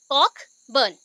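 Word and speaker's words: Cockburn: ठीक है, और नाम आ गए जे कॉक बर्न, यहाँ पे देखो यहाँ पे ना COCR है बट आर प्रोनाउंस नहीं होगा, ओनली कॉकबर्न बोलोगे, कॉकबर्न।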